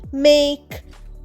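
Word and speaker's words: make: যেমন মেক time hope ইত্যাদি। এখানে দেখো মেকে আমরা মেকই বলছি না। মেক বলছি এবং এ যেটা ভাওল সেটা একটু লম্বা উচ্চারণ হচ্ছে।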